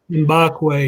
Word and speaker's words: Mbakwe: So I want to say Mbakwe. Mbagwe. Is that how you say it? Yeah. Mbakwe, yeah. And do you know when he'll commit to Alabama if he does?